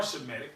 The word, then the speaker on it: Shemitic: And they're not even saying it right. They Yeah. Yeah. And first of all, we are Shemitic, right?